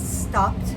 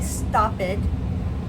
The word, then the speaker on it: stopped: I was driving and stopped the car. So we don't say stop it, we say stopped. We hear that pt sound at the end.